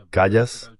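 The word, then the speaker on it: Kallas: Así se pronuncia su nombre. Callas.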